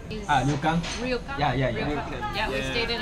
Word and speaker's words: ryokan: How do you say Ryokan? Ryokan.